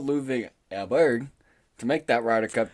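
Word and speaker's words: Åberg: But, again, I was early on Mr. Ludwig Elberg, which is apparently how you say his name. We were calling him Ludwig Aberg.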